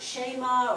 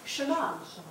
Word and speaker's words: Shema: So do you see how Shema should not be actually pronounced Shema or Shema? It's Shema. Which when we do with the kids, Shema, we do it right. It's just that when we see it spelled, sometimes it's spelled S-H-E, and so then we want to make a longer E.